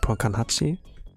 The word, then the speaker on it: Ponkan8: I would like say it's pronounced like Ponkanhachi, like the Japanese version.